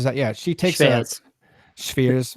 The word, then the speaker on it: Schweers: And then number 17, Schweers, is that? Yeah, she takes Schweers. Schweers. The W is V in German.